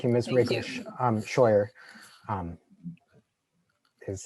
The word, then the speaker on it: Scheuer: Scheuer is how it's pronounced.